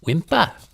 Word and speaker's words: whimper: you go ahead and whimper pronounced wimpa wimpa from the small crying